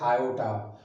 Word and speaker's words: iota: number Jal X plus this I is pronounced as Iota but I say I that's all it is